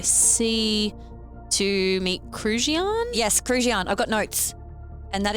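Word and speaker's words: Krujian: Yes, Kruian. I've got notes. And that is spelled K R U.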